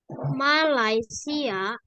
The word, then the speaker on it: Malaysia: Indonesia kan Indonesia ya bahasa indones ini ya Malaysia Oke koreksi nadanya ya Ma laai Malaysia bacanya Malaysia ini adalah Malaysia ya Malaysia Oke